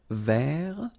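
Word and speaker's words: vert: rou remember J rou so masculine form you don't pronounce the final T ver feminine form ver so listen carefully I don't say t but it's okay so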